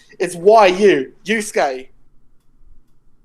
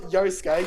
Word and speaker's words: Yusuke: They do realize that it's Yusuke. Not Yosuke. Yosuke's from Persona. So yeah, I'm assuming that's the main character though of Yu Yu Hakusho. Yosuke. Pretty sure it's the main character. Yeah, Yusuke Urameshi.